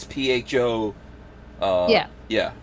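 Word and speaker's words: phở: it looks like it's spelled pho but it's pronounced pho yeah like uh i mean you know if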